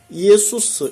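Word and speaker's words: Ἰησοῦς: 가깝습니다 발음 상은 예 예수라고 하는 표현도 헬라어는 뭡니까 예수스 이렇게 돼 있거든요 예수 근데 영어는 뭡니까 지졌어요 말이 안 되는 말이죠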